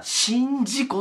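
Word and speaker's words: 宍道湖: これ読み方、宍道湖って言います、これで。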